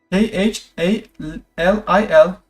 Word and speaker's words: Khalil: It's Khalil. K H A L I L. Khalil, if I pronounce it the French way.